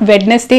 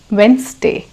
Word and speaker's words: Wednesday: as you call it it's not Wednesday it's Wednesday Wednesday break fast it's not